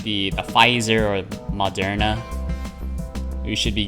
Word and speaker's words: Pfizer: know why yeah it's p pfizer p-f-i-z-e-r so just it's pfizer but the p is silent wait a minute